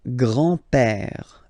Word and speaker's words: grand-père: So, le grand-père, grandfather, le grand-père, remember, accent grave like that, it's this open père, le grand-père, le grand-père. And then the feminine form, grandmother, la grand-mère, la grand-mère. Okay, so les grands-parents, le grand-père, la grand-mère.